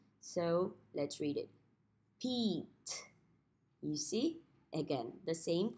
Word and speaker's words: Pete: The E at the end does not make a sound, so we don't sound it out. So let's read it. Pete.